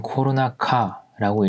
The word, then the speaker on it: コロナ禍: 이 단어는 코로나카라고 읽고요.